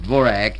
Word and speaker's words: Dvořák: One cannot listen very long on the radio without hearing the compositions of Antonín Dvořák, or it's pronounced Dvořák in America, and those of Rudolf Trimov.